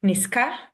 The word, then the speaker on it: niska: Z will change to S because Hmm. it's easier to pronounce S than Z when it comes in contact with K, for example. Okay. Yes. Niska.